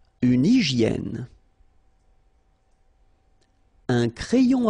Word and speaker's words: hygiène: Une hygiène. So remember we've got this Y here, vowel, and it's pronounced like E. I, okay? Hygiène. H doesn't exist, H doesn't exist in French, so hygiène.